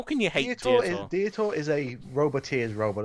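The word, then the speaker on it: Diotoir: I can understand why not pronouncing it, but I think what someone just said to him is Dietor.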